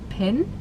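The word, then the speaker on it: Pien: I think you pronounce her name Pin. P I E N.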